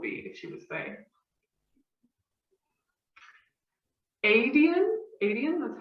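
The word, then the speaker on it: Aedion: Adian, that's how we pronounce it.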